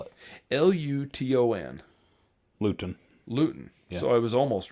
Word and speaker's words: Luton: or Latin England how would you say that spell it l-u-t-o-n Luton lewton so I was almost right and you know